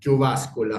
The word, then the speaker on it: Jyväskylä: emérito de la psicoterapia en la Universidad de Jyväskylä. ¿Ya lo pronuncié bien? Muy bien, Estoy Gerardo, muy mejorando. bien, sí, De Jyväskylä, Finlandia.